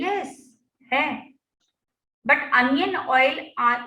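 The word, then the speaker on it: jojoba: फिर इसमें जो हम देखिए, इसको होबा ऑयल बोलते हैं एक्चुअली, बट इंडिया में कई लोग उसको जोजोबा ऑयल प्रोनाउंस करते हैं, but actually it is called as pronounce as होबा ऑयल, ठीक है।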